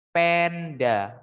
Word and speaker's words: panda: Penda. Bacanya bukan panda tapi penda.